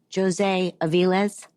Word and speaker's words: José Avillez: So first, am I saying your name correctly when I say José Avillez? Perfect. Oh, really? It is perfect?